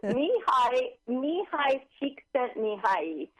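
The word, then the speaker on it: Mihaly Csikszentmihalyi: Can you pronounce his name again for us? Mihai Csikszentmihalyi.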